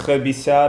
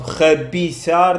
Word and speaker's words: rabiçar: Nós, de facto, em vez de dizer tão articulado, rabiçar, nós... Rabiçar. Rabiçar. Rabiçar. Vocês também comem o I da palavra depois, por exemplo?